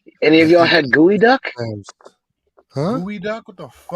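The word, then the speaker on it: geoduck: I'll tell you right now because you're gonna spell it wrong it's g-e-o-d-u-c-k G what g-e-o-d-u-c-k gooey duck it's like how how is that disgusting I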